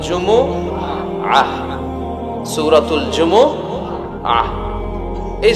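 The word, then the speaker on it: جمعة: zoom অনেকে বলে ফেলে জুমা জুমা আসলে আরবিতে শুদ্ধ উচ্চারণটা হচ্ছে জুমু আহ আহ সূরাতুল জুমু আহ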